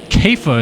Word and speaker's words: Kafa: He's got a good lead over Ben Kafa, as I'm told is how you say that.